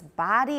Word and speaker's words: body: of all pronunciation body a lot of you say buddy and it's not it sounds sort of like bodhi which is british okay but it's body and american height of